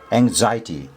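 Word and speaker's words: anxiety: Okay यसको उच्चारण एङजाइटी stress चाहिँ यहाँ निर हुन्छ जाईमा एङजाइटी स्पेलिङ याद गर्नुहोला।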